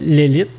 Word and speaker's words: Lelit: Donc, maintenant, pour aller chez l'Élite, est-ce que je le prononce comme faux? L'Élite? Oui, parfait.